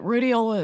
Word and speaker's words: rhodiola: I've found a supplement called, I can't pronounce the name properly, but rhodiola?